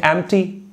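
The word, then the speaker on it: empty: इसका उल्टा कर दीजिए, एम्प्टी, ध्यान दीजिएगा उसको एम्प्टी नहीं पढ़ते हैं, पी साइलेंट होता है वहां पर।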